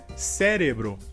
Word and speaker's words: cérebro: A próxima palavra seria em espanhol cerebro e em português seria cérebro. A diferença seria que em espanhol a sílaba forte seria re e em português seria a sílaba inicial se.